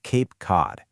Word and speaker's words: Cape Cod: The C in Cape is pronounced differently than the C in Cod because of the vowels that come right after them.